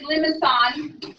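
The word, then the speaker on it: limaçon: Because it's supposed to be limicine. My Midwest wants to say limicine, but it is limicine.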